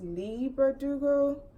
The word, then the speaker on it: Leigh Bardugo: I'm sorry, I think I always pronounce her name wrong. It's Leigh Bardugo, but 6 of Crows is the name of the book.